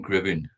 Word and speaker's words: Gribbin: the YouTube drumming community he is Mr Brian gribbin Brian welcome how are you very good thank